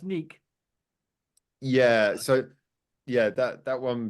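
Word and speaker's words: NEK!: I called them Neck, and I got told off. It's not Neck. They even tell you on their channel how to pronounce it. Oh, thank you very much. Oh, it's yeah. Okay, yeah. Okay, now I'm starting. Yeah. Well, They've blown up quite a lot recently. I'm starting to remember now. It's the pronounced Neek.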